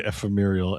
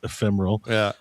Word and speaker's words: ephemeral: No, this is me intentionally mispronouncing because it's it's a thing with me cuz I always say ephemeurial and it's ephemeral.